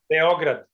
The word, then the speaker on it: Beograd: You guys pronounce it in Serbia? What would be the accent? Pardon? Beograd.